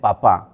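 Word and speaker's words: Papin: ওই যে এরকম উচ্চার উচ্চারণ হবে পাপা পি এ পি আই এন এভাবে লেখে এরা দুইজন ওয়ার্কিং ক্লাস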